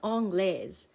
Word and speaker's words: anglaise: The E is silent, but it still tells us that the S is pronounced.